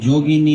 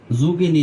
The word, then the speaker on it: যোগিনী: আষাড় মাসের কৃষ্ণপক্ষিয়া একাদশী যোগিনী নামে পরিচিত। শব্দটা উচ্চারণ কি হবে? যোগিনী যুগিনী না যোগিনী একার আকার মহাপাপ বিনাশকারী এই তিথি পাপ সাগরে পতিত মানুষের উদ্ধার লাভের একমাত্র নৌকা স্বরূপ।